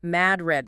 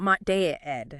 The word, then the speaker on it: Madrid: And the source makes a point of the pronunciation mad red, not maed, right? Not the one in Spain.